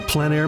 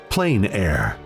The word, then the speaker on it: plein air: The French pronounce it plein air. Others say plain air. No matter how you say it, there is a huge